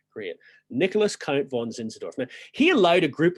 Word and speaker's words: Zinzendorf: Nicholas Count von Zinzendorf.